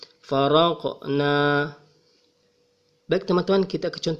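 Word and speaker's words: فَرَقْنَا: Huruf qof ini berada di tengah ayat, jadi dibaca faroqna. Jangan membacanya sebagai faroqna, dan memang seharusnya tidak dibaca sebagai faroqna. Sebaliknya, getaran suara tersebut kecil. Farqna.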